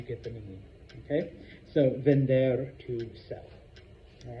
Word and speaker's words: vender: If you mispronounce it as vendor, what does a vendor do? A vendor sells. So, vender, to sell.